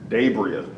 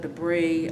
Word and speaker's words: DaBriah: you say your name what is the correct pronunciation of your name dabria okay um had was it mispronounced a lot growing up yes debris um dabria um my teacher depachi i don't